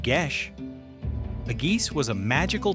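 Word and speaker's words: geis: Because of the power of the geese, pronounced gish.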